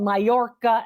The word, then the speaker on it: Majorca: Uh, and it's called Mayorca actually to pronounce it properly.